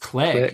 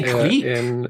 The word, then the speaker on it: clique: Clique is another one, which I think is pronounced click. You say clique?